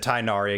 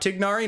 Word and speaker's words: Tighnari: the wishing chair but speaking of tignari i said tainari again i need to work on that we will try out tignari now he is being